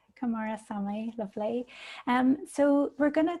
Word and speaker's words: Kumarasamy: Feel free to just say for MasterTalk, but my last name's pronounced Kumarasamy. Kumarasamy, lovely.